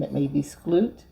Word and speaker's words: Skloot: named Rebecca, and I'm not sure how to pronounce her last name. It may be Skloot. Skloot.